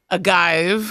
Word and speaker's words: Agayev: that up aive a guive mhm did I say right yeah okay okay